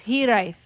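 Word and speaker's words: Hiraeth: Hiraet. Thank you, man. Hiraet. Okay, it's Hiraet. No, I don't like it. So it's pronounced Hiraet.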